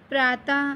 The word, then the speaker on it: प्रातः: विसर्ग, किसी व्यंजन के बाद यदि विसर्ग दो बिंदुओं लगा हो तो उसका उच्चारण अह की तरह होता है। विसर्ग का प्रयोग केवल संस्कृत के शब्दों में होता है बच्चों। जैसे प्रातः, प्रातः जब हम लिखते हैं तो हमारे मुख से अह निकलता है, तो उसे हम